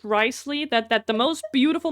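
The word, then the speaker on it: Wriothesley: I think his name is pronounced Riceley.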